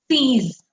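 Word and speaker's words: six: Pronunciation of number 6 is sees, sees, sees.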